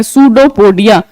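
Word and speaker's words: pseudopodia: हम क्या कहते हैं सुडो पोडियम स्यू दी ओ पी ओ दी आई ए सुडो को दिया इसमें जो पी है वो साइलेंट रहता है इसको procedon पोडियम नहीं पढ़ना है दिस इस पीएसईउदोपोडिया ठीक है पीस साइलेंट रहेगा एंड स्पेलिंग जो है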